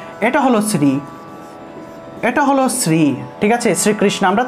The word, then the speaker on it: শ্রী: হলো শ্রী, এটা হলো শ্রী, ঠিক আছে, শ্রীকৃষ্ণ, আমরা তো এটা উচ্চারণ করি, কিন্তু এটা উচ্চারণ না, প্রকৃত উচ্চারণ হলো শ্রী শ্রী, তালবস্য শ্রী, অর্থাৎ তালব্য বর্ণ তালু থেকে আসবে, ঠিক আছে, জিহ্বাটা আমাদের